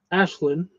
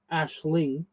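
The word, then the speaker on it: Aisling: Ashlin or Ashling.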